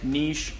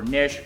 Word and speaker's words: Niche: here it does say niche or niche or however you want to pronounce that but it's n-i-c-h-e there's